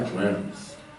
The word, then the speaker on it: Worms: Se escribe Worms. Se pronuncia Worms. Los alemanes hablan raro.